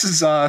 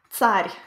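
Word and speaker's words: царь: Oh, yes, Tsar Sin. It's actually pronounced Tsar. It's using the ts letter that we looked at.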